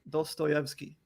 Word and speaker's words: Dostoyevsky: get through in my own personal time but dos scoveski is actually being expedited how do you say his name what's his name dostoyevsky okay hold on crap i say it even